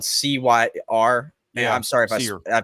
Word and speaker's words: Cyr: Blake Cyr, it's spelled C-Y-R.